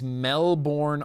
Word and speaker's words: Melbourne: It's Melbourne, Australia. You know how I can tell? Because it's spelled Melbourne. You don't say the burn identity. You say the born identity.